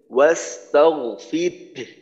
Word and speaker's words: واستغفر: আচ্ছা, এই এই শেষের আয়াতের এই মাঝের অংশে ওয়াস্তাগফির হার আওয়াজটা কিন্তু হার আওয়াজটা প্রকাশ করতে হবে। হার আওয়াজটা যেন অস্পষ্ট না হয় বা উচ্চারণে যেন আসে, এই বিষয়টা খেয়াল রাখতে হবে। ওয়াস্তাগফির, ফির ফির র বলার পর হলকে শুরুতে একটু ধাক্কা দেওয়া যাতে হার উচ্চারণটা বের হয়।